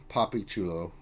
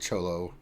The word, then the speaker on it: Papi Chulo: anyway I apologize and I was told I'm seeing the name wrong it's it's too low papi chulo I I'd said cholo so so I apologize